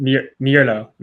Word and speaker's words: Mierlo: So your last name is Mierlo or Merlo? How do I pronounce it? Mierlo.